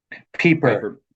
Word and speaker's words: Pieper: And the Joseph Pieper, yeah, Pieper book it's is Leisure as the Basis Pie.